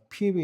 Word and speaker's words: 뵈뵈: 여러분 베베라는 것은 영어로 피비 이렇게 발음하는데 그래서 우리 지난번에도 했던 루디아, 영어로 리디아죠. 리디아나 베베, 피비는 미국에서도 유럽에서도 여자 이름에 많이 쓰이기도 합니다. 그러나 이 사실 정확한 이 그릭의 발음은 아닙니다.